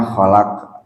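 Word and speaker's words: خلق: Ya, dibacanya khalaq 2 fathah. Enggak dimatikan.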